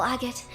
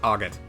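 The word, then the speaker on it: Agate: Agot, don't do anything too crazy. It's pronounced AGOT. Agot. Crossner. Ew. that. I'm sticking with Auggot.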